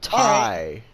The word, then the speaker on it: Tay: Tay Conti. You mean Ty? I Excalibur said that's how you pronounce it.